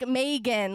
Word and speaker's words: Mehgan: Yeah, it's like Mehgan, like Mehgan. Like, meh, she's all right.